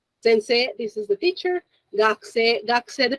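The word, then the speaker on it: 学生: Gakse, the pronunciation, the U sound is very, very, very small, very subtle.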